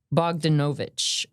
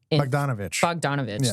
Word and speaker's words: Bogdanovich: time are a paraphrase of remarks by Peter Bogdanovich. Bogdanovich.